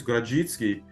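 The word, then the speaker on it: Grodziskie: not polish um but we had some Polish guy come and say how to pronounce it and I was like oh wow I don't know if I'm going to get that but I think it's gritsky and at first I was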